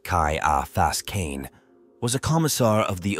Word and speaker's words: Ciaphas Cain: shiaas Kain pronounced Kai AAS Kain was a commissar of the officio profectus who